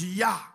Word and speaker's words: Jah: Jah is shortened for Jehovah, but it's pronounced Yah, and which suggests that